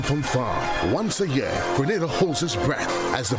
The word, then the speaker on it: Grenada: So, today, like we German say, we are in Granada. But I heard in English it's called Grenada. Say it right. Grenada. Say it right. Grenada. That's right. There we go. It's not granada.